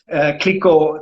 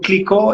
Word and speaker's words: Clicquot: pronunciate the last letter however there are some outliers but in this case clicko certainly lives by the majority rule so madame clicko is how you pronunciate it and who is uh